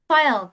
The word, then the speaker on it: file: File, tulisannya seperti ini. File, tulisannya F-I-L-E. Tapi bacanya adalah file ya teman-teman ya.